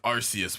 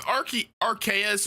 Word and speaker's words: Arceus: you guys hold on how do you guys pronounce arceus by the way because archie rks or arceus is the correct pronunciation but ah man maybe